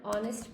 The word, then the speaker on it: honest: We mentioned that before, if you're going to say, you'd say, for example, an honest person. Remember, because the H is silent, actually honest acts like it begins with a vowel.